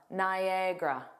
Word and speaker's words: Niagara: Niagara there are three sounds. Nagra Niagara Niagara. The view of Niagara Falls is absolutely breathtaking. Did you know that Niagara Falls is in both the United States and Canada?